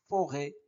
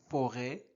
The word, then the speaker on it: forêt: le graphèm e accent circonflexe et forêt forêt ré et et ré forêt.